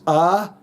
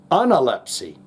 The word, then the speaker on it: Analepsy: The correct pronunciation of the name of the band is analpy. Anelpsy. And it was chosen due to its now obsolete meaning recovery of strength after an illness. Analypsy.